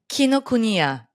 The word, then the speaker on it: Kinokuniya: There is an international edition that you can get from, tell me if I'm pronouncing this right, Kinokuniya? Kinokuniya.